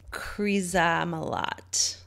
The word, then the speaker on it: Krizamalot: And if you want to see some weird, cool art, her stuff is at Krizamalot, like Camelot, but with her furs.